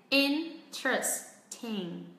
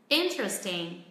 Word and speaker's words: interesting: Hoặc khi người ta nói nhanh, người bản xứ nói nhanh thì nó sẽ rút xuống còn 3 âm tiết. Interesting. Interesting.